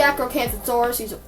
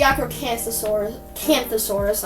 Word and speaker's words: Acrocanthosaurus: But this is the Acrocanthosaurus. It's the Acrocanthosaurus. I'm sorry, I butchered those first 2 attempts.